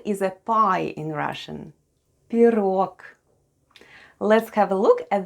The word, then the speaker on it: пирог: And all together we have пирог, with the stress on the last syllable.